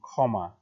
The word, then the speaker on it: ক্ষমা: মাঝে বা শেষে হলে, কিন্তু শুরুতে যদি হয় সেটা খেয়াল করো সেটা কিন্তু খ এর মতো হয় উচ্চারণটা, যেমন ক্ষমা বা ক্ষতি, হ্যাঁ বা ক্ষণ।